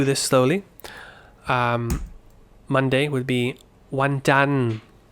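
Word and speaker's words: วันจันทร์: The spelling is required, but you just finish on the N.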